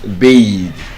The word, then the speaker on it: bathe: If you're using it as a verb you are going to bathe. I want to bathe.